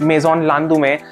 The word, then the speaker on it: Maison Landemaine: This is a name, Maison Landemaine. I'm pronouncing it in French.